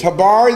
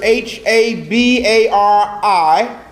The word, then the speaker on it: habari: are spelled like this hibari the first word is h ABA RI hibari the second word is